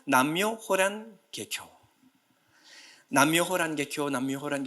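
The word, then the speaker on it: 南無妙法蓮華経: 그래요 나무 묘법 연화경 이것을 일본식으로 발음하면 남묘 호란 계교 남묘 호란 계표 남묘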